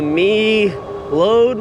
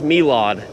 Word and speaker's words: Meelod: Lately, I just cannot pronounce the name of these bikes, but I think it's Melod because Mel load would have an A in it and this doesn't have an A in the name.